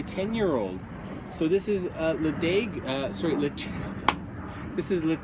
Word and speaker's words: Ledaig: but as you know the uh pronunciation of distilleries and whiskies in Scotland uh follows their language so anyway Le is the name of